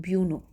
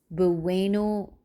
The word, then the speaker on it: Bueno: So I called it Buno. It was Bueno, Bueno donut balls. Okay, I didn't pronounce it well.